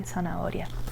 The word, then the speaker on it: zanahoria: I say zanahoria, like an S.